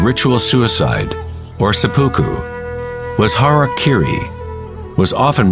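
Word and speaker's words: harakiri: one form of ritual suicide or seppuku was harak Kiri was often mispronounced as Harry KY it means to impale one's Hara thereby cutting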